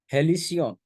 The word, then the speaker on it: halcyon: और हेलिसियन, ये स्पेलिंग गलत है बच्चे, HALCYON है।